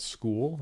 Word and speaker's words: Skool: So I've been looking into other options, and one of the options that I found is a platform called School, and it's spelled S-K-O-O-L.